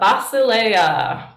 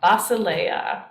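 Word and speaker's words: βασιλεία: a herb here um this is vasa it's not basil so don't but the letters are basil so beta alpha sigma yoda lambda epsilon oda alpha basalea bacilla by the way all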